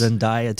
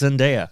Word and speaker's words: Zendaya: dave bautista and zendaya zendaya nope zendaya zendaya okay i watched two youtube videos where someone called her by her name and it's zendaya oh okay yeah i thought it was in diet i'm saying it wrong almost all the time i know it's zendaya well she's amazing she